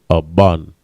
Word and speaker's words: aban: Stone in the Hebrew is aban. Ba, and na. The ba and na connect. Aban.